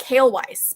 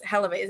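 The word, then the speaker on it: Haelewise: butchered that but yeah it looks like hail weiss but it's hellavez and you said it's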